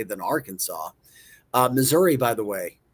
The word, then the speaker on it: Arkansas: Number one was Arkansas. Ar Kansas, I guess. I don't know how else you could say it. Aransas. Arkansas. I mean, really, Arkansas. Number one, the most difficult.